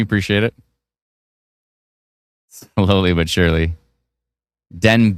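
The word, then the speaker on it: Denbigh: Denb it's pronounced. Oh, Denb. I thought it was more like uh like Newfoundland. Denbby. No, Denb. Okay.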